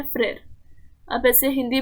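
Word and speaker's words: frère: Okay, यहाँ पे brother के लिए जो टर्म यूज करते हुए है वो है फ्रेर, प्रोनाउंसिएशन है फ्रेर।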